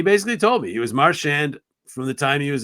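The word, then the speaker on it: Marchand: want now and he goes I would say marshan and he says and to firm that up I asked my eight-year-old niece a couple months ago her name her last name is marshand how does she want her name pronounced Martian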